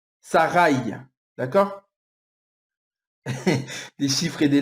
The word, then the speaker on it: Sarai: du nom de Sarai, à la fin de son nom, il y a un Yod. C'est ce qui fait le Ye à la fin. Sarai.